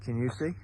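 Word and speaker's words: Kingussie: and it is just on the edge of a lovely village it's spelled Kingusi, but I promise you it's pronounced Kinusi.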